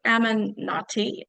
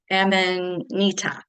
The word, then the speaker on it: Amanita: So this is Amanati. No, I'm not saying that. I'm not pronouncing that right at all. Amanita. That's it.